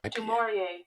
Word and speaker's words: Du Maurier: Du Maurier.